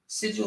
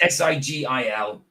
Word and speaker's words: sigil: So, oh no, it's s i g i l. Sigils, not sigual.